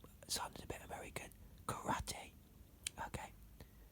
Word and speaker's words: karate: Karate. Okay. If you say karate like Americans, you say it wrong, because karate means empty hand.